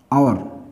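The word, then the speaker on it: hour: ठीक है, अब ये लिखा अपन ने हॉर, इसको इंग्लिश में बोलते हैं दोस्तों हम, इसका उच्चारण होता है ओवर, आवर।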